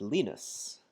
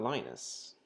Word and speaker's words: Linus: the guy who created Linux his name is pronounced leanness not Linus I learned this the other day from from